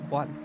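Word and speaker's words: を: Next one is this one. Oh. The o, which is usually pronounced as o, but you write it as wo.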